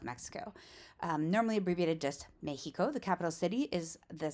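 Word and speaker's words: México: In Spanish, it's pronounced Mejico.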